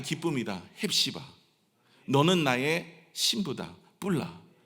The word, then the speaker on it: 쁄라: 해시아 너는 나의 신부다 뿔라 이거 발음 잘해야 돼요 잘못하면 욕 같아요 시바 뿔라 예 너 나 넌